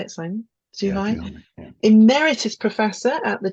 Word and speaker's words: Zhuhai: Yeah, Zhuhai.